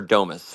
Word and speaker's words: Damus: It's like the icing, and that's why both Primal and, is it Damus or Domus? I want to make sure I'm Damus. pronouncing it Yeah.